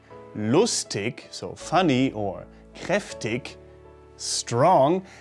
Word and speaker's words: lustig: the wrong one while the soft version with the sound at the end like in lustig or kreftik is the